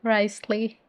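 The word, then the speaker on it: Wriothesley: Okay, Paimon says Risley.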